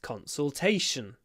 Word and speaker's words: consultation: for a 30 minute consultation consultation remember the L in the middle consul consultation it's a it's a dark one a throat one consultation consultation the next